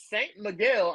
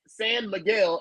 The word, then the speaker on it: San Miguel: Atticus St. Miguel. I did San Miguel. I'm sorry. Atticus San Miguel.